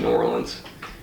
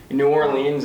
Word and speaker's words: New Orleans: Most people there pronounce it New Orleans. New Orleans is kind of overpronouncing it. And then some people underpronounce it and they say New Orleans.